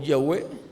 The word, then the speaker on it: Yahweh: Los teólogos le han añadido algunas letras y en diferentes tiempos le han dado cierta pronunciación, como Yahvé o Yahweh o Yab, Hab o Jehová.